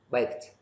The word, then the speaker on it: baked: là vi đi á sẽ đọc là t tờ đó cho nên baked baked các bạn nghe chữ t cuối đó đó nói về